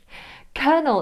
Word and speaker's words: colonel: How would you pronounce this? Colonel. Colonel is a military rank and it is not pronounced as it is spelt at all.